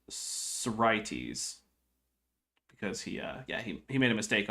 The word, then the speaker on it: Sorites: did in fact put he meant to indicate that the second syllable was accented, and he misplaced the accent mark. So now we have that all figured out. So it's Sorites.